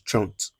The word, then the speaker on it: trente: 30 is trente.